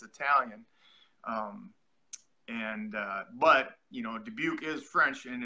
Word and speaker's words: Dubuque: was born okay now you have a good pronunciation of it Dubuque that's like so are you so here's the